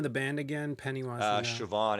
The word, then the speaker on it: Siobhan: the name of the band again pennywise uh siobhan it's spelled s-i-o-b-h-a-n it's uh it's a a gaelic